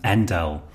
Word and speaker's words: endl: person here and L I usually say endler but someone pointed out to me that ndele is more probably probably a more common way of pronouncing it although programmers do say all kinds of things maybe endl is indeed better early so now if